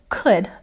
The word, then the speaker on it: could: And again, pronunciation, don't say that L sound, it's silent.